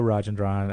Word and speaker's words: Rajendran: but listen, I had a hard time even pronouncing your name. I know. Stop the madness. So again, it's Rajendran at Financial Growth Partners.